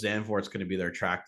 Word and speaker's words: Zandvoort: If I'm pronouncing it right? Yeah. Zandvoort, yeah.